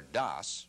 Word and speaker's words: DOS: Before you boot up, I think you should know that a disk operating system, or DOS, pronounced like toss, is like an office